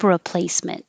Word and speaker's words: replacement: You don't say re because the re is not stressed, so it changes to ra.